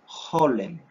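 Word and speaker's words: חולם: El sonido de este vocablo, de esta vocal para uso, se llama holem. Holem. Holem. Recordemos que la pronunciación de esta como una J suave, como de suspiro.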